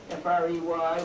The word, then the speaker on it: Frey: F-R-E-Y was in default. He prefers to call it Frey, but you better spell it Frey.